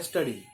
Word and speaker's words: sturdy: आर जो है, मैंने अभी को स्टडी स्टडी बोला है स्पेलिंग के लिए, ये वर्ड है स्टडी। आर थोड़ा साइलेंट होता है।